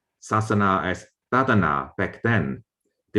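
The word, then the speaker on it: sāsana: example we know that religion in pali is pronounced sasana sasana is still the way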